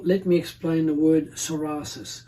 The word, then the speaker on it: psoriasis: first of all let me explain the word soris spelled PSO r i a s i s